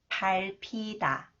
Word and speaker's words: 밟히다: When 히읗 comes after the final consonant 리을 비읍, 리을 비읍 combines with 히읗, it is pronounced as P sound. 밟히다, 밟히다.